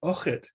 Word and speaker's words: Eochaid: In fact, the Firbolg king in the first Battle of Moytura is also called Uchid, and this is spelled Eochaid.